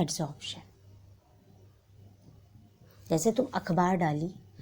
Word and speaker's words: adsorption: उसमें एक टॉपिक आता है एडसॉर्प्शन। स्पेलिंग है ADSORPTION, एडसॉर्प्शन।